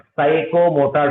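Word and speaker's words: psychomotor: साइको मोटर domain, साइको जो है ना, एस से पीछे पीछे बराबर है साइको मोटर। बराबर है। जी हाँ मैडम, पी से, यहाँ पर पी साइलेंट था।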